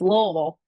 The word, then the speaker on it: Louisville: in Louisville Kentucky and it's not Louisville it's lville you got to say it like you have a marble Lille lville Kentucky and